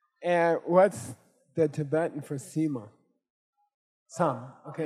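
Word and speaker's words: सीमा: Okay, it's a the Tibetan is sam ts a m and the the Sanskrit for sam is sema long i sa. Okay, sema.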